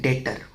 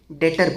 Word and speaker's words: डेटर: वो बंदा जिसको हमने क्रेडिट पर सेल करी वो हमारा कहलाता है डेटर। इसमें बी साइलेंट होता है। डेबिटर नहीं बोलते डेटर बोलते हैं।